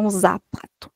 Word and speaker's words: zapato: Y la Z también en español no tiene el sonido de la letra Z, a letra Z do do portugués. Então a gente tem som en espal. Então, por exemplo, a palavra sapato espanhol, ela se escreve assim. Deixa eu colocar aquí uma caixinha. Se escreve assim, mas se lê sapato y zapato.